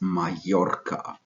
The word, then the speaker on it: Mallorca: Majorca so we don't say Marlo AKA it's Mallorca so therefore tempranillo should be pronounced properly as it sounds in Spanish other